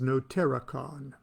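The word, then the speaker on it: notariqon: the the next game kabbalists play uh is no terracon that's spelled n o t a r i q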